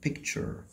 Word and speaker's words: picture: picture احنا قلنا ال U R E تنطق شر picture.